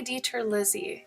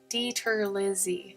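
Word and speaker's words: DiTerlizzi: Tony Dieter Lizzie. It's spelled like DITERRLIZZI. Pretty sure. If Google will correct you if you type that in. Dieter Lizzie.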